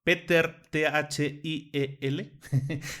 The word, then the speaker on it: Thiel: Peter, Thiel.